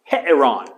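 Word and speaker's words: ἱερόν: The word for temple, we got a rough breathing. So it's het, and I believe there's 2 sounds here. There's het and then the epsilon, eh. And then you have ron, heteron. Heteron, ta heteron.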